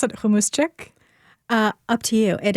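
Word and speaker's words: hummus: Java, you own a business in Nashville, Hamuschic, or do you pronounce it humus? Uh, up to you. It is humus.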